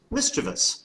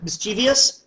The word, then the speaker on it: mischievous: turns out it's not it's miss cheevus which i guess is probably just pronounced mischievous right so this not even word mischievious not a word mischievous there you go how's that for your